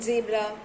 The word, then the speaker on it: zebra: How do you pronounce that Z in zebra? You don't say zebra. It's not J. Z. Zebra. Zebra.